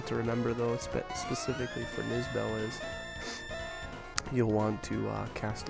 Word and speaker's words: Nizbel: But here we have Nizbel.